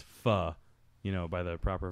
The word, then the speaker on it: pho: I've seen I know it's I know it's pronounced fuh you know by the proper vernacular yeah but